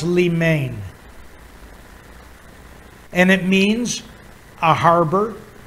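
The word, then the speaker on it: λίμνη: word lemon or limnen is some righted it's pronounced li main and it means a harbor a haven okay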